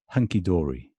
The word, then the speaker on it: hunky-dory: Hunky-dory. Secondary stress is on the first syllable.